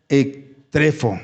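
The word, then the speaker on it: ἐκτρέφω: Es la esencia de la palabra griega ektrefo. Así se pronuncia o se pronunciará.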